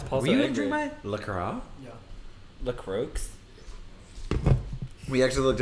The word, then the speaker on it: LaCroix: LaCroix is pronounced LaCroix, not LaCroix, not LaCroix, like the French might say.